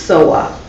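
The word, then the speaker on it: གཙོ་བོ: And in Tibetan, it's Tso-wo, Tso-wo, pronounced Sowa.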